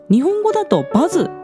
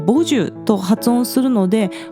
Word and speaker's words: 버즈: First of all, regarding the pronunciation of the band name, BUZZ is pronounced as Bazu in Japanese, But it is pronounced as Boju in Korean, so I will say it as Boju this time.